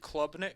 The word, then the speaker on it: Klubnik: Is it Cade Klubnik?